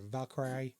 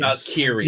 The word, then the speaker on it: Valkyria: after distraction by Lara Valkyrie. I always mispronounce that. You're rubbish with names. Valkyria.